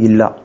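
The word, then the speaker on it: إله: வந்து அல்லாஹ், இன்னொன்று வந்து இல்லா. அல்லான்றது வந்து எப்போ ப்ரொனவுன்ஸ் பண்ணுவாங்கன்னா, டெஃபினட் ஆர்டிகல்ஸோடு சேர்த்து ப்ரொனவுன்ஸ் பண்ணுறதா இருந்தால் அல்லான்னு ப்ரொனவுன்ஸ் பண்ணுவாங்க, டெஃபினட் ஆர்டிகல்ஸ் இல்லாமல் ப்ரொனவுன்ஸ் பண்ணுறதா இருந்தால் இல்லான்றது ப்ரொனவுன்ஸ் பண்ணுவாங்க.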